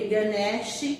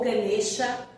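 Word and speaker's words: Ganesha: de um homem porque ganes ou ganea as duas formas estão corretas de se pronunciar ou ganesa ou ganes né a na década de 90 eu aprendi pronunciar ganes era o que era mais usado atualmente é mais utilizado gancha né mas as duas formas estão corretas Olha que interessante eh ganes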